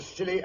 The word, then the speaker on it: Scilly: Year's Eve off the Scilly Isles. The Scilly Isles? That sounds appropriate, Doctor. The name of these particular islands is spelled S-C-I-L-L-Y.